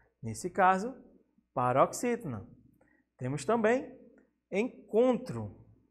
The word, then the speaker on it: encontro: Temos também encontro. O com, nesse caso, a mais forte, a tônica, paroxítona.